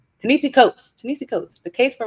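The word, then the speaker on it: Ta-Nehisi Coates: the case for reparations by I get his name wrong every time but you said it earlier. Tenis coats. Tenisi coats.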